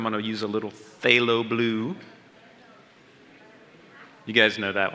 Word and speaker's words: phthalo: That's phthalo blue, and on your palette, it's labeled PHB. I know that's a F, but it's pronounced F.